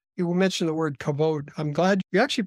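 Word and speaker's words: כבוד: right focal point you will mention the word kabode I'm glad you actually pronounced it right that's it often is pronounced you know but it's actually kavod and it's this wonderful world word that captures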